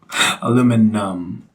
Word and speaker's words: aluminum: I n I um that's the American spelling Miam Miam yeah and we just go um aluminum we just make that I silent take I would say